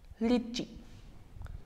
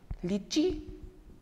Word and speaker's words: litchi: Next one, le litchi. Litchi means lychee. A slight different. Here, after L in English, we pronounce it for a longer time, Y, and in French, I is pronounced for a shorter time.